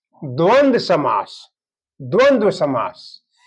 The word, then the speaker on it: द्वंद्व: अब उदाहरण में है अब जो है ये कह रहा है कि द्वंद द्वंद्व द्वंद्व समास पूरा उच्चारण होगा। द्वंद्व द्वंद्व जैसे हम लोग द्वंद बोलते हैं लेकिन द्वंद होता है।